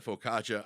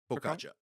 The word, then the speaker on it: focaccia: we're all different so is that how that's pronounced Focaccia Focaccia yeah I've been saying facisha for my entire life unless I'm wrong I'm